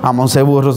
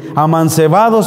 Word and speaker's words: amancebados: viviendo muchos años de amance burros amance burros no no se dice así amancebados Perdón Ahí está tu